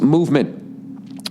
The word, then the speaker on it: MVMT: four-wheeler on your property mvmt watches everybody pronounced movement was founded on the